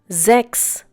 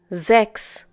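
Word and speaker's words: sechs: known as umlaut you will pick up the pronunciation with a few more words that we will come across in other videos sex once again Zechs we have already learned that whenever the letter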